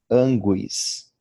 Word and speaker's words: anguis: O mesmo se dá com gu, anguis. O U é pronunciado e o acento é no A inicial.